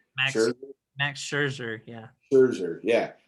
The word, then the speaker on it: Max Scherzer: Max Scherzer.